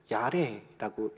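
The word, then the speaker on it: ירא: 이 경외라는 단어는 히브리어로 야레라고 읽는데요.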